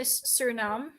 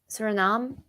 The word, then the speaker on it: Suriname: eaten across the Caribbean's Suriname is that how you pronounce it yeah I'd say Suriname Suriname and Asia I want